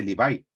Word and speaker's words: Levi: O, por ejemplo, cuando hablan no sé, el apellido Levi, no se dice Levi, se dice Levi, Como los blue jeans.